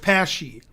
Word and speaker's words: Pashy: George rhymes with flashy? He's Jashy Pash. Oh, he means the last name rhymes. George Pashy.